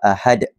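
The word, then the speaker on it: أحد: itu iaitu ahad ah kita perlu membacanya dengan pantulan yang kuat dan besar kita perlu baca dengan kuatlah ahad Dalam ayat yang kedua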